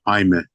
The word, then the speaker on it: Jaime: Is it Jaime or Jamie, or how should I pronounce your name properly? It's Hyman. Jaime.